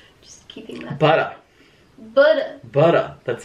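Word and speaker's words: Buttah: Butter. That's how it's spelled.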